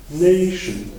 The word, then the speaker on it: nation: Donc, ce qu'on fait, on prend ION, on revient d'une syllabe, et on a l'accentuation. Donc, on va dire nation. On peut faire la même chose pour les autres mots, et c'est la même règle. Du coup, on dit inflation et indication. Donc, on a une accentuation assez importante sur la syllabe juste avant le suffixe.